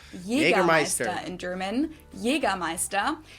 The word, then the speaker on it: Jägermeister: Jagger Meister. English speakers usually say Jägermeister, which is pretty much the same just with a pretty thick accent.